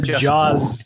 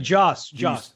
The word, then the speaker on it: Joss: Yes, the Jaws, as we call on this podcast. That's right. Joss. That is how his name is pronounced.